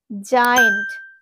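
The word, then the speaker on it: giant: তো এখানে আছে জায়েন্ট, জায়েন্ট। দেখো তো জি এর পরে কি রয়েছে? সেই তোমরা রুলসটা ফলো করো, হ্যাঁ। জি এর পরে কিন্তু আই রয়েছে। তো জি এর পরে আই থাকলে করবো এই জিটাকে জ হিসাবে উচ্চারণ করব। তাহলে কি বলবো এটাকে? জায়েন্ট, জায়েন্ট।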